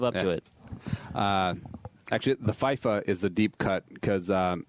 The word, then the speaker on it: FIFA: Yeah, FIFA. That's the right way to say it.